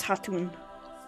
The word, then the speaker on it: Khatun: Yes, Khatun. I think they say Hatun, though, right? The K is silent. Yes, Hatun.